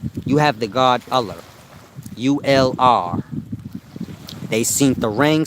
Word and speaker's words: Ullr: It's pronounced ULR.